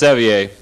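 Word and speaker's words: Sevier: It's pronounced Sevire.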